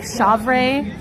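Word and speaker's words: chèvre: I think it's pronounced I think it's like shavere uh c h e v r e with like a little like above the e.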